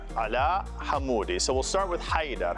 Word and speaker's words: Hamoudi: In Arabic, Haydar ala Hamoudi.